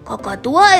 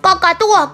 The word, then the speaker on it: cacatúa: eso ha sido bueno cocoatúa es difícil de pronunciar Malú mal Eso no se dice cacatúa cacatúa cacatúa Ya basta